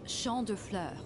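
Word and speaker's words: Champs de Fleurs: imagine champ St flows Champs de floors how do you say that it's sha Flur sha FL wow she got that French Sha the FL it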